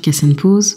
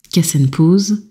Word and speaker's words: Kas Enn Poz: en île et Villaines Cassen pause vient du créole mauricien et ça se prononce bien cass bien que ma langue